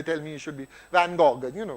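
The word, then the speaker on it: Van Gogh: F as they tell me you should be van go you know f as they say you should be pronounced and I I fell in love I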